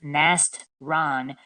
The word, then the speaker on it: Nastran: woman named nastran Shams that's pronounced Nast Ron in English by the way she